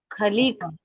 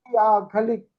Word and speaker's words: खालिक: थोड़ा सा ये बताएं मुझे, एग्जैक्ट प्रोनाउंसिएशन क्या है, खालिक या खलिक? खालिक, के खालिक। हाँ, देखिए अंग्रेजी का हिंदी में कई बार कोई बात नहीं सर।